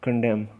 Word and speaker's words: condemned: be nori we proved condemned okay so the N is in this word is silent so it's condemned so the noise will